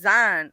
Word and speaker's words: Zion: And then the locals told me, nah, you wrong. That ain't how you say it. It's Zion. I'm like, oh, really? Zion is spelled Zine.